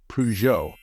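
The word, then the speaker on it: Peugeot: give it a try the pronunciation of this word is very similar to the French way to say it the stress should fall on the second syllable so in English it should be pronounced as PUO PUO convertible what color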